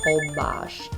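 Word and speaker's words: Holbox: For my birthday this year, we went to Hobox, spelled Hobox, pronounced Hobox.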